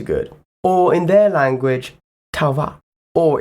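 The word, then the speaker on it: Tau'va: Or in their language, Tauva. Or if I were to pronounce the apostrophes in that word, Ta'auva.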